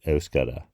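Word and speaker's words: Euskara: the B language in Basque it's osar is the language I hope I pronounce it right if you're a basque osar speaker let me know if I got that right there's a little the s k has a little bit of sh sound to it so I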